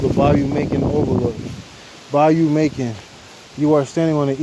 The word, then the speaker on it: Macon: Bayou Macon. You are standing on the eastern edge of the Macon, pronounced Mason. Mason. Mason.